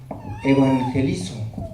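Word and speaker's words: εὐαγγελίζω: La palabra evangelio en el griego es evangelizo, así se pronuncia, es en el griego y quiere decir buenas nuevas, buenas noticias, un buen mensaje.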